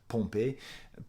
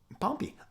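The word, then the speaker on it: Pompeii: they were covered and I'm pronouncing it in French Pompei in Pompei pompy uh because like that's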